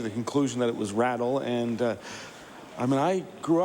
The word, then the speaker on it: Riddall: on the CBC that they were suggesting that it should be Rattle as opposed to Riddall, and apparently they spoke to people.